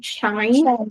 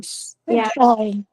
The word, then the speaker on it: shine: should be shine right shine shine with the end at the end because if you don't pronounce n it may sound like shy as like you embarrassed.